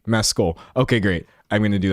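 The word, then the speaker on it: Mescal: Can we pronounce this correctly? Mecoll.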